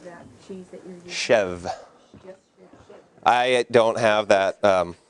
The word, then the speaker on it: chèvre: Chev. Yes, I don't have that ability that, I mean, I'm sure if somebody spoke native French, chèvre, you got to roll the R at the end.